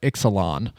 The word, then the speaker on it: Ixalan: today for the uh caverns of EX or Exelon per I almost I almost said it wrong